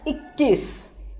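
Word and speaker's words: इक्कीस: 21 is pronounced as ikkis. So I-K-K-I-S.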